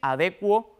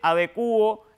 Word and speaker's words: adecuo: como averiguar o sea los hablantes cultos suelen decir adecuo evacuo IL licuo Pero insisto Si usted dice adecuo evacuo IL licuo conforme la pronunciación Escúchalo bien mayoritaria tenga la seguridad de que esas formas también son correctas y de hecho las